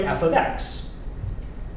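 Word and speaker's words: f(x): Yeah, you can write f of x. And that's how you pronounce it, f of x.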